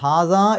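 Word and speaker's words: هٰذَا: വഹാസൽ ബലദി, അവിടെ ശരിക്ക് വഹാസ, ഹാസ എന്ന് പറയുമ്പോൾ ശരിക്ക് അവിടെ 2 അക്ഷരത്തിൻ്റെ ദൈർഘ്യം നീട്ടാനുണ്ട്, ഹാസ. പക്ഷേ അതിനുശേഷം അൽ ബലദ് എന്ന് പറയുമ്പോൾ അതിൻ്റെ തുടക്കത്തിൽ ഹംസത്ത് വസ്ലാണ്.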